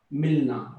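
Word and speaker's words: मिलना: Melena or Melungi. Milna, right? The word Milna.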